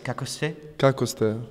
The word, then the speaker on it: Kako ste: How is my pronunciation on this? Kako ste? Kako ste?